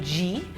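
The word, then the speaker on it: ghee: And we know clarified butter from G. G? G-H-E-E. G then. How you pronounce it?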